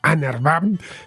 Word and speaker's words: UNRWA: siglas en inglés unrv en inglés lo pronuncian como anarb tenían conexiones con el